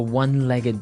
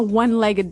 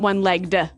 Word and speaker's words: one-legged: So, you said, "Where do you find a one-legged dog?" So, what's a a one-legged dog?